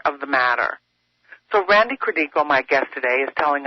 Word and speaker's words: Credico: A lot of people say in Credico, it's Credico, even though it's the bastardized version from my great-grandparents who came here from Italy in 1897. But it's actually Credico is the way we pronounce it here, Randy Credico.